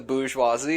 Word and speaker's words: bourgeoisie: I mean, I agree, down with the bourgeoisie and all that jazz.